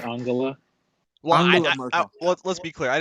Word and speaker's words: Angela: It's pronounced Angela.